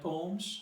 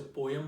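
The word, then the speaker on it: poems: हैं, डू you right पोम्स, okay. आप लोग शायद से पोएम बोलते हो, लेकिन प्रोनाउंसिएशन उसकी पोम्स होती है, सही है।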